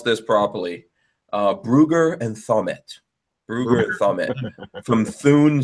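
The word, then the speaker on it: Brügger & Thomet: Let me pronounce this properly. Brugger and Thommet.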